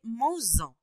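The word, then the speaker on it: manges-en: Parce que on peut pas dire mange-en, d'accord? On doit ajouter s pour la prononcer mange-en.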